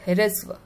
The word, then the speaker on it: ह्रस्व: ह्रस्व, हमें जो पैरों में र लगा हुआ है इसलिए इसको हम ह को आधा प्रोनाउंस कर रहे हैं और र को पूरा। ह्रस्व, र पूरा है और ह आधा, ह्रस्व।